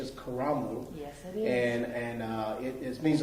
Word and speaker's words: Karamu: course coming here they changed the title to carol house which i understand the actual pronunciation is caramel and and uh it means a place in